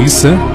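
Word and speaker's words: عيسى: visão do islamismo Jesus ou is como é pronunciado no Islã seria apenas mais um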